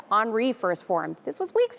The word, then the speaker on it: Henri: on that crisis front since Henry, remember Henri? Sorry, I mispronounced it. Henri first formed.